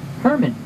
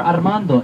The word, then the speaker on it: Armando: from Central America and you could say my name in many ways Herman if you're German if you're French Arman if you can roll the r Armando if not Armando is fine now to the right